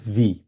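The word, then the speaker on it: wie: এরপর আরেকটা বে ফ্রাগি হচ্ছে ভি, কারণ ডাব্লিউ কে আমরা ভি এর মতো উচ্চারণ করি, আমরা বলি হচ্ছে ভি।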